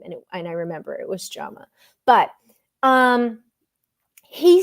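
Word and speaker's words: Jaume: Orphan episode, I did look up how you pronounce his name, and I remember it was Jama.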